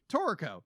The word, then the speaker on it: Toriko: Anime episode of One Piece, which is a crossover between One Piece, Dragon Ball Z, and I'm probably going to mispronounce this word. Toriko. Toriko.